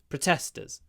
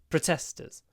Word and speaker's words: protesters: many protesters were arrested they actually rhyme those words protester arrested protester arrested maybe that can help you to get the right pronunciation protesters arrested protesters arrested although protesters that